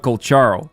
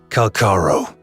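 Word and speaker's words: Calcharo: So here's the thing about Kolcharo. Apparently his name is actually pronounced Kalkaro.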